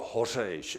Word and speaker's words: Hořeš: It is the sound Hořeš. It doesn't exist in any other language except in Czech.